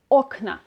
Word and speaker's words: окна: So instead of окно, which is the stressing the ending of the word, now in the plural form of this word, the stress is on the base of the word. It's окна. If a neutrum noun ends